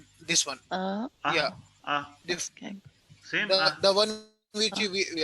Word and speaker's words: escargot: Okay, escargot.